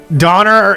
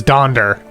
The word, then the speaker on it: Donner: Donner is sometimes pronounced as Donder. No, yeah, Donner is Donder. Yeah. Donner is Donder for sure. But Dixon is definitely. But they're both accepted. They're both accepted pronunciations or spellings, so that's why I put it that way.